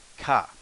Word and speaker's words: か: yard say seance next character ka or if you're from brooklyn car cop car but in fact the